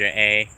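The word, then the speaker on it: Aye: the places that to people like living close to businesses may not always be the best thing to do in a house when buying a house.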